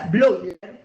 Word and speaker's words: Bleuler: blogger bleuler se inscribe bleuler se pronuncia blog trabajaba con òmnium en